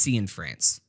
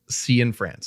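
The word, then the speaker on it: Cianfrance: It's just C in France. C in France.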